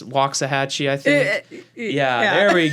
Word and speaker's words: Waxahachie: just mentally reminding myself i mispronounced that town it's waxahachie i think yeah there